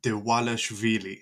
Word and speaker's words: Dvalishvili: Ah, we got Merab the Machine Dewalashvili. That's how you pronounce that.